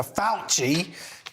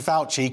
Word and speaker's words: Fauci: I would say there's there's a good rule never trust a man whose name rhymes with ouchy indeed emails show Dr fauci ouchy fauci commissioned a February 2020